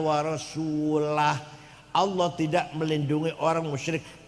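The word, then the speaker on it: رسولُه: Yang benar bacanya. Waallaha barium minal musyrikina rasulah. Allah tidak melindungi orang musyrik dan Rasulullah pun tidak melindungi orang musyrik. Jadi kalau baca warasulih Allah tidak melindungi orang musyrik dan tidak melindungi Rasulullah.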